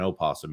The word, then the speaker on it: opossum: I do believe she calls it an opossum, even though the O is silent, unless you're in Ireland, of course, the opossums there.